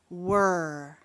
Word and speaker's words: were: Again, that last e is crossed out because we don't say that sound. But look at that e and r in the middle of the word. That e looks kind of mean. And that R looks like a dog and he's growling saying. Those two letters together make the sound. The word is were.